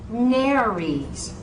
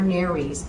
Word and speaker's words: nares: You will find many people pronounce nares as nares, and that is unacceptable. So you'll hear nares more than you will hear nares in this region of the country.